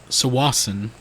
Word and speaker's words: Tsawwassen: We drove to Tsawwassen, I believe is how it's pronounced. It starts with a T, for the ferry.